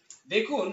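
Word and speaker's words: the: দা, এটা দা উচ্চারণ হয়, ফোনেটিক্স এর ই হলো দা বলতে হবে, কারণ এখানে কনসোনেন্ট আছে, তার আগে দা হয়। দেন টেল আ স্টোরি, মানে একটি গল্প বলো, টেল দা না টেল দি, এখানে হবে আবার দি, এখানে ভাওয়াল আছে।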